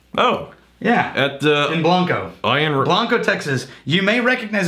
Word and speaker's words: Blanco: b n Co o it's actually pronounced Blanco not blank uh Blanco Texas and